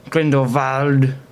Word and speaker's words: Grindelwald: they do it against Grindelwald that fire wouldn't that have saved the strong Lestrange well so what was the uproot Jude Law's pronunciation wall he always said window vald like his German I don't think he's